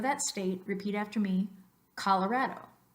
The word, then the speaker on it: Colorado: for as ha Colorado the second Oh in English is gonna be pronounced like a schwa this up so kala